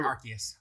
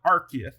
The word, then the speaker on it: Arceus: Arceus. I think is what they say. Yeah, the C sounds like a K. All right, so Arceus.